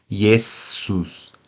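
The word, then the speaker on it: Iesus: Z em português né Jesus em latim não tem que ficar s mesmo yesus yesus o t tem o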